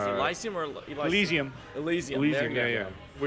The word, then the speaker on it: Elysium: there was District 9, and there was how do you pronounce it? Elysium or Elysium. Elysium.